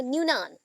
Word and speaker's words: Nunan: According to David नुनान, David नुनान, ठीक है, actually spelling है NUNAN, तो उसके अकॉर्डिंग प्रोनाउंसिएशन होगा न्यूनान, दैट इज न्यूनान। सो हम बोल देते हैं नुनान, स्पेलिंग में रॉन्ग ना हो।